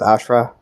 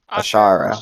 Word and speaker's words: Ashara: You said it was Ashra? Is that how it's pronounced? Ashara.